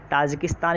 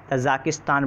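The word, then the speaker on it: Tajikistan: ठीक है, ये ऑप्शन सी ताजिकिस्तान, इसको उर्दू में बोलते हैं और इसी को इंग्लिश में तजाकिस्तान बोलते हैं। क्या बोलते हैं? तजाकिस्तान, तजाकिस्तान, TAZAKISTAN, तजाकिस्तान। ये आपका इंग्लिश में इसका प्रोनाउंसिएशन होता है, उर्दू में जब हम लिखते हैं तो ताजिकिस्तान लिखते हैं।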